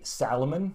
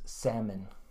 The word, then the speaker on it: salmon: make this mistake but fin say Salomon because it's spelled that way but actually the way we say it is salmon so again salmon next